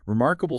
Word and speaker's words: Remarkable: Remarkable stress on mark.